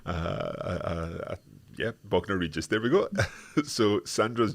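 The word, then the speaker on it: Bognor Regis: I don't know how to pronounce this. Hola, Elizabeth. It's Bogner Regis. Yeah, Bogner Regis.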